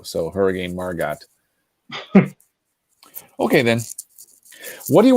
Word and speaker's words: Margot: I heard a meteorologist pronounce the T on Hurricane Margot, so Hurricane Margot.